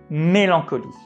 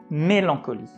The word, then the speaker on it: mélancolie: that it's pronounced as mélancolie. Mélancolie. And as you have noticed, we don't pronounce the letter E at the end, la lettre E à la fin.